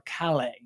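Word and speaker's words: Callais: in Louisiana versus uh cay and that is or calle, that's how they pronounce it.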